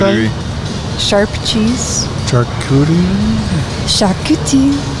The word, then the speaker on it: charcuterie: Charcuterie? Charcuterie. Charcuterie. That's how you say it with a French accent, I'm pretty sure.